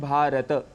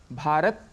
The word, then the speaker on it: भारत: इस शब्द से देखिए हम बोल रहे हैं भारत तो इसमें भ आ र अ त अ यह ध्वनियां है लेकिन सामान्य रूप से जब हम बोलते हैं तो अक्सर भारत कह देते हैं भारत कहने से त में जो अ है साउंड वह हट जाता है इसे संस्कृत में दोष